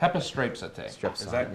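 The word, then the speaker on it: ἐπιστρέψατε: How do you pronounce that word? Hepistrapsete. Okay. Hepistrapsete.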